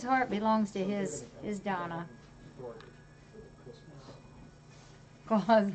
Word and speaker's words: Klaus: Claws like claws.